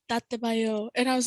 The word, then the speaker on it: dattebayo: And I was like, Tate bayo. And he's like, yeah, Tate bayo.